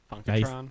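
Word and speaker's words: Funkotron: funkon I think that's how you say it funkatron funkatron yes thank you that's well you're the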